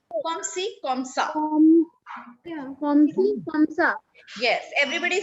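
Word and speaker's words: comme ci, comme ça: But it is pronounced comme si, comme ça.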